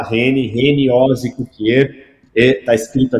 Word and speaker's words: Heni: Meu nome não é fácil, as pessoas não acertam, é Reni, se escreve com H, H-E-N-I, né? Se fala Reni, Reni Ozzi Cukier, está escrito aqui na tela, vocês podem copiar.